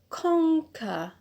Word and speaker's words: conquer: Next verb is the verb conquer. Conquer. So where is the stress? Yes, it's on the penult because we have used the rule 1C. Here on the last syllable we have a schwa. It means it's not rule 1A and it's not rule 1B. So we apply rule 1C, which says other cases. So here it's 1C, stress on ko, which is the penult.